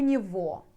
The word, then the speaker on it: него: Sometimes, maybe 99%, you pronounced like vo instead to say go. But you should know that spelling will be go. Like go, pronounce vo. Okay? У него.